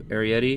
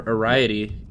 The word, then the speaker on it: Arrietty: The Secret World of Arrietty. I think. Or Arrietty, if you don't, you just read the title and then don't bother to watch the trailer where they pronounce it correctly.